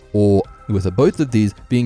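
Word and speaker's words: 大: So for example, this kanji for big has the Chinese pronunciation dai and the Japanese pronunciation or, with both of these being used for big in daisuki and oki.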